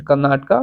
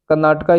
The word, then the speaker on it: कर्नाटक: राजस्थान, फिर कर्नाटका, फिर मध्य प्रदेश। मध्य प्रदेश, कर्नाटका। कर्नाटका स्टेट का अगर आप प्रोनाउंसिएशन करेंगे तो लगेगा कि ये किसी को कह रहा है या डांट रहा है। कर्नाटक, क्या कर्नाटक?